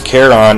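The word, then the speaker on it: Charon: uh caron excuse me i should actually say his name the right way his name is caron and uh caron um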